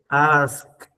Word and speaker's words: asked: El otro va a hacer sonido de T. Asked.